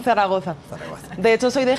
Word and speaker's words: Zaragoza: bienvenida est mesa como Muchas gracias Cómo se pronuncia Zaragoza Zaragoza Zaragoza de hecho soy de Gea de los